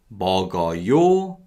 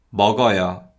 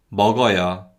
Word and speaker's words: 먹어요: So we never ever say 먹어요, 마셔요, 바지요, 신발이요. Yo actually weakens and sounds more like 여.